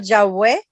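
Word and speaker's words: Yahweh: decimos yah no y el yahwe es para aquellos que la la W la pronuncian como u u u en No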